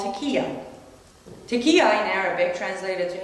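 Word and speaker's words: taqiyya: lie to people who aren't muslim is that tequila is that how you pronounce it yes can you explain how that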